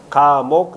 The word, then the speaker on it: 가목: 없는데 가나다라 가나다라도 있어요 그건 어떻게 읽죠 목이라고 읽어요 가목 나목 다목 이런 식으로 읽는 방법이